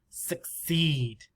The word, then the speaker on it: succeed: suck suck suck seed this one has the s sound because of the ease it's a little